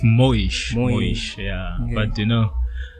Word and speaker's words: Moish: I always wanted to ask is it muish or moish? How do you pronounce it? It's it's it's moish moish.